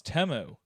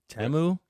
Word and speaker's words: Temu: the commercials but I heard that we've been pronouncing Teemu wrong the whole time yeah yeah it's temu temu it's temu I think I thought it was